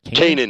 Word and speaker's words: Kanan: in the content and how you say his name Kanan is he named Kanan yeah we joke and say we try to make him sound more Shakespearean and say Kanaan but you know yeah yeah